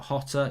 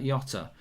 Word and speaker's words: Jota: Diego Jota, not Hotter, Jota.